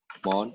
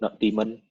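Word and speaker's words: nodemon: You can do install another library called notmon, or you can call it notdaemon. I'm gonna say notmon.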